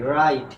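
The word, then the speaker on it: writer: যেমন দেখো এটা যদি উচ্চারণ করি তাহলে হবে কি রাইট, কি হবে রাইট। এরপরে দেখো এটার উচ্চারণ কি হবে বলো তো রাইটা, কি হবে রাইটা।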